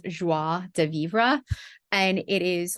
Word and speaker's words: joie de vivre: I love, it's actually pronounced joie de vivre, and it is like exuberant joy of life, right?